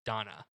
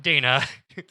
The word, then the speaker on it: Dana: with these dreams about a woman named donna not dana um he's experiencing through